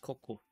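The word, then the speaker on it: 高校: And since we're both combining the two onyomi kanji together, we're gonna go do the onyomi reading for school as well. So that's why this is pronounced koko.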